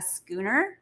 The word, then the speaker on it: schooner: sailboat is called a schooner yeah not a shooter right i actually had to spell it schooner like sk because i was mispronouncing it but we hopped aboard